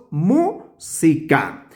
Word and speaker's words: música: llamaríamos la sílaba tónica claramente en esta palabra es aquí donde se pronuncia con la mayor fuerza de de voz porque decimos música bien esta sílaba serían